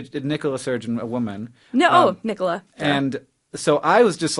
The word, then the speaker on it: Nicola: No, Nicola.